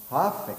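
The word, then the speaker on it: hough: Huff, is it pronounced Huffy? It's like Huff Bakery. H-O-U-G-H.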